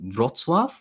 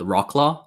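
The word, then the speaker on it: Wrocław: for you to know the actual polish pronunciation of the city that I live in is drotswav but you might see it spelled Rock law so you know okay because the W in Polish is a b so it's it's right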